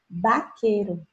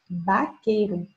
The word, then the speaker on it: vaquero: Então, gente, se escreve com UB, mas o som é de B. Você vai escutar assim mesmo: vaquero, vaquero. Tá?